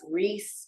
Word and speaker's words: Rice: That's Reese spelled like a bowl of rice, and like King.